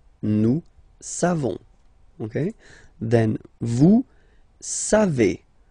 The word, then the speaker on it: savez: Then vous savez. Classic ending for vous, EZ, but then phonetically it's et.